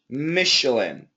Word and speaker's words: Michelin: good job and David this is actually an sh Michelin oh okay Michelin yep it's the French pronunciation of CH and uh and so